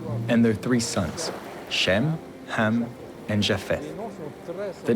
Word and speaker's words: Ham: People tend to say Cam, but it should be pronounced Ham, which means black in the sense of a root race.